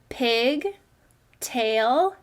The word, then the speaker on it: pigtail: right down the middle next we'll take a look at this first syllable that seems to be a closed syllable what vowel sound does a closed syllable make a short vowel sound so this must say pig great work the second syllable has that long a sound so what does it say tail put it together pig tail pigtail great reading syllable sleuth